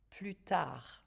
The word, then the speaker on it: plus tard: plus tard means later plus tard remember pronounce last letter plusard plus tard plus tard je d